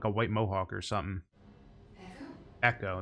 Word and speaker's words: Ekko: white mohawk or something echo that's how you say his name echo oh he has a